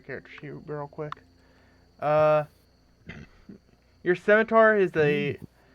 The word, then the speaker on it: scimitar: Okay, so I would like to take out my, how do you even pronounce that weapon? Rapier or It's scimitar?